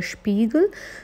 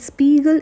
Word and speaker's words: Spiegel: German is called their Spiegel so it's not called Spiegel it's it's called dear Spiegel because of the German pronunciation if you want to